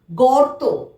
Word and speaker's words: গর্ত: গ, তয়ের মাথায় রেপ, তাহলে তয়ের আগে আমরা র উচ্চারণ করব। গর্ত, গর্ত।